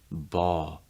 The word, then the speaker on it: ball: ball after that so notice that he's pronouncing this more with the light out where that l is really clear but a lot of times for native speakers you're often going to hear that it'll become like a dark l sound